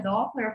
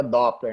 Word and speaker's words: Doppler: Que eu tenho uma que a gente voltaria a falar um pouco da ultrassonografia Doppler, falando um pouco sobre a parte de acurácia.